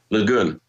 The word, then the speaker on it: Le Guin: writer, and you may have to fix my pronunciation here, but Ursula Le Guin, is it Le Guin? Yeah. Le Guin.